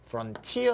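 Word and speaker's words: frontier: 즉시 예 쏜 티어 라고 발언한 수도 있지만 프런티어 라고 발음하는 살이 더 마치 박수 않기에 미국 사람들이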